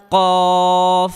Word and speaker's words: كاف: কফ قاف কফ قاف কাফ كاف কাফ كاف কাফ كاف কাফ كاف কাফ كاف কাফ كاف কাফ হরফটিতে হালকা বাতাস বের হবে।